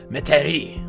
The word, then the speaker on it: Metairie: How do you pronounce it? Metairie.